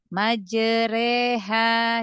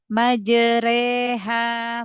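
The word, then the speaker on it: مجراها: yang ke dibaca tarqik Dibaca tipis pada lafaz majreha Jadi bukan majre re bukan bukan ditebalkan ya majre Bukan majreha makuknya dibaca yang tipis karena imalah itu dibacanya tipis ya Nah kalau mungkin ee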